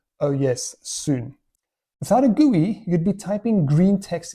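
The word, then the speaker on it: GUI: G U I, gooey, like slime, icky, sticky stuff. Okay, maybe not, but it is pronounced that way, gooey.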